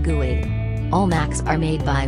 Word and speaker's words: GUI: personal computer with a graphical user interface or GUI pronounced GUI all Mac's are made